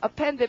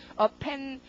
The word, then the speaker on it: append: 그다음 단어 발음은 append고 자, append p 발음도 p 이렇게 흐 소리가 약간 나도록 append 할 때 흐 소리가 확 납니다.